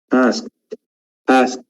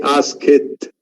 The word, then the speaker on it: asked: So we pronounce ed as te sound. So I say, ask, and I do not say ask it.